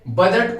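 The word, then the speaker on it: bougette: और बजट बेटा एक फ्रेंच वर्ड है बजट, जिसको बोलते बूजट। ठीक है, बजट एक फ्रेंच शब्द है बेटा, वर्ड है जिसको हम प्रोनाउंस करते हैं बूजट।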